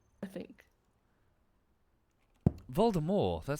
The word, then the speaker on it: Voldemort: Voldemort all over again apparently Voldemort's name is French so it's supposed to